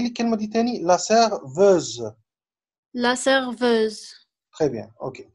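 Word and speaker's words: serveuse: اوكي لا سيرفيز اي سيرفوز، فوسي ان كافي لا هنا اس سيرفيز ده نطقه زد، سيرفوز سيرفيز اي فوسي ان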